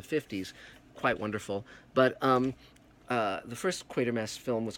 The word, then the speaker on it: Quatermass: Now, often that's mispronounced Quartermass. No, it's Quatermass, just like it's Alan Quatermain in King Solomon's Mines, not Quatermain.